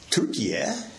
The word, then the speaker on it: Türkiye: Turkey, pronounced Türkiye, if you are there, has an extraordinary heritage, once the seat of the Greek, Roman, and Ottoman empires.